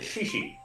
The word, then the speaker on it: XIXI: We pronounce that actually Shishi.